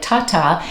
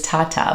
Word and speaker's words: Tata: It's spelled T-A-T-A, yes, like Tata. It is Italian, and if you are pronouncing it correctly, it is Tata, but we have Americanized it.